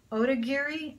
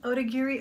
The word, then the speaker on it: Otagiri: Yeah, it's Otagiri, Otagiri, O-T-A-G-I-R-I.